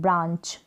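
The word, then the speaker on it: branch: आ पढ़ रहे हैं, ब्रांच, ब्रांच, ए को आ और ये जो एन है ना, इसको बिंदी के रूप में आप प्रोनाउंस करेंगे, यानी आधे न के रूप में इसका प्रोनाउंसिएशन हो रहा है। इस तरफ जब एन आएगा वो आधा न ही उसका उच्चारण होगा, आधे न के रूप में, ब्रांच।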